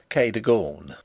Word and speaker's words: Cadogan: as it may appear my housekeeper was called cadogan a name made locally possible by being pronounced kadagone only those who have